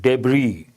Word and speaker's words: debris: Amid, again, in the middle of debris. Here S is silent.